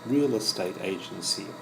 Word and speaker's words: real estate agency: It's real estate agency. Let's look at the pronunciation first. It's three words. We join the first two words together. Real estate, and we emphasize the first word real estate, and the second word we emphasize the A.